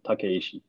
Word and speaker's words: Takeishi: Takeishi. Takeishi. Takeishi. So you just pronounce every syllable, right? Takeishi.